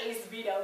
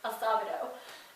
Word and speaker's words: Acevedo: For a long time I said that this one actor's name, Kirk Acevedo, but I'm pretty sure it's Acevedo.